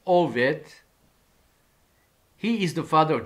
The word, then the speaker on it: Obed: And they call his name Obed, or in Hebrew, better pronunciation is Oved.